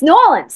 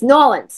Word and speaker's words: New Orleans: nails on a chalkboard when I hear people say New Orleans I'm like no one that's not how you say it come on it's not how you say it's noan have some respect have